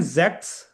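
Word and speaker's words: sechs: वाला सिक्स से अच्छा सिक्स को कहते हैं जेक्स जेक्स और जीबक्स या से जीब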